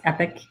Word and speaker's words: Epoch: founder and ceo of epic lasers that's e-p-o-c-h but it's pronounced epic and um he has